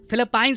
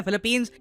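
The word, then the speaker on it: Philippines: देश को जी हां इस कंट्री को फिलीपाइन नहीं प्रोनाउंस करते इसका नाम है फिलिपींस 375 मिलियन डॉलर की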